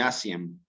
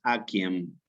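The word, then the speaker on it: aciem: Nunca es asiem, sino que yo aquí tengo en latín clásico la pronunciación con una K, que es aquiem. La C como una K, como quíquero.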